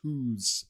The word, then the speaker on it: Hus: H us Jan Hos that was his name and he he he was he was a Czech priest and um his pronounce his name was pronounced who's okay so it wasn't